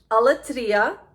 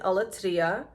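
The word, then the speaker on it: Aletria: So we have here Alatria. That's how you pronounce it. Alatria.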